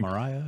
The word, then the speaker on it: Moriah: Mount Moriah, is that how you pronounce it?